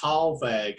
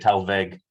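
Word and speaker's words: thalweg: it three times what it's pronounced tall vague according to the dictionary that i just played it back tall lag well it is it's german so that would make sense in the pronunciation they'd probably more say it tell veg probably for water treatment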